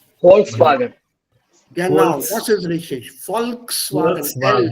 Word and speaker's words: Volkswagen: And Volkswagen. Auf Deutsch Volkswagen. Ah, not wagon.